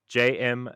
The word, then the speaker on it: JM: I'm JM Rhymes with Mayhem, Executive Director of Counterintelligence